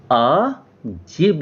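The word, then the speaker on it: Adjib: तो डी के नीचे जब अंडरलाइन हो जाएगी तो उसको फिर ज ही पढ़ेंगे। तो इस हिसाब से इनका नाम होगा आ जिब होगा।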